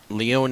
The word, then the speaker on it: Leone: Leone is the correct pronunciation, as you have stated, Paul.